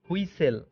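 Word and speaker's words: whistle: Rules number 22, শব্দে এসটিএল এর উচ্চারণ হয় সল। এখানে টি অনুচ্চারিত থাকে। যেমন আপনারা উদাহরণ দেখলে বুঝতে পারবেন। বাসল, অতিশয় কর্মব্যস্ত, বাসল। খেয়াল করছেন। রাসল, রাসল, খসখস শব্দ। হুইসেল, হুইসেল, বাঁশি।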